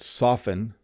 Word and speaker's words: soften: why you're asking because softly softly you do hear the tea a little bit but soften you don't like I put it down softly the the T flaps a bit right it becomes a d softly but soften you don't hear it at all similar to the word